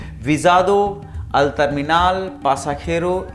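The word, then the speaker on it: terminal: टर्मिनल जो होते हैं, डिफरेंट टर्मिनल्स होते हैं कई एयरपोर्ट्स पे, टर्मिनल 1, टर्मिनल 2, ठीक है। तो टर्मिनल को बोलते हैं अल टर्मिनाल।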